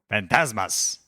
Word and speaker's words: Fantasmas: Fantasmas. It's not like the drink. Yeah, sure. No, not like the drink. Fantasmas. Yes, Is that you right? did it. Yeah. Yeah. Someone say it right. Fantasmas.